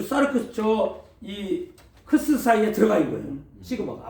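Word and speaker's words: σάρξ: 보니까 사르크스 나왔어요 사르크스 사르크스이 스가 이중 몸이라 그래서 발음을 그렇게 좀 살려 줘야 돼요 사르크스 한번 따세요 사르크스 사르크스 자를 막 사르크스 하지 말고 사르크스 숫자를 이중 모으면 끝에 그 좀 약하게 사르크스 이렇게 하면 되는데 사르크스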